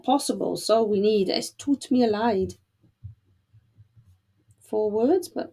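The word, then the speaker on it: tut mir leid: so we need is toot me a lied four words but that's how we say I'm sorry in German it's taught me a light that's just doesn't go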